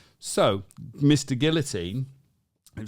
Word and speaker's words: Guillotin: yeah right so Mr Guillotine it slight different pronunciation giltin guillotin no it's even further honestly his name it doesn't matter no his name is Guillotine so what he said